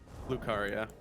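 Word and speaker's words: Raya Lucaria: yeah it's the uh South Raya Lucia gate lucaria I I said it right yes you did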